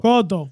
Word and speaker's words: Cotto: Cotto. If the money's right, What? Cotto. Miguel Cotto. Miguel Cotto. ¿Y esa mente sucia tuya, loco? ¿Y qué pasó? ¿Y qué? What, bro? Es que, loco. Cotto.